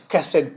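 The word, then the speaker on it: חסד: Ang pronunciation po niyan sa sa English ay hased. But since Middle Eastern yung mga yung mga Hebrew kessed po merong letter K sa unahan.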